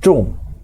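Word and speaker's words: 众: Taruh 3 orang ren, atasnya ren, bawahnya ada 2 ren lagi, bacanya menjadi cung, artinya jadi kerumunan karena orangnya ada banyak.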